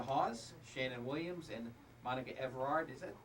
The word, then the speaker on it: Evrard: we have Dina Haas, Shannon Williams, and Monica Evrard. Is that correct pronunciation? Evrard.